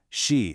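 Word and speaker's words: 四: Because the way you pronounce them, shi and ku, sound exactly like the words for death and suffering.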